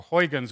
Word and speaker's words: Huygens: It was solved by the Dutch physicist Halans um or Huygens as we tend to pronounce it in uh in English.